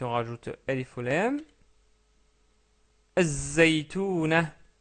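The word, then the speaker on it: الزيتونة: Az-zaytouna, az-zaytouna, car la lettre zay est une lettre solaire.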